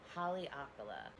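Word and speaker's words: Haleakalā: or let's just say the volcano, inactive volcano, Haleakala. Before I went there, I could not say that for the life of me, no matter how many times I was told exactly how to say it. Haleakala.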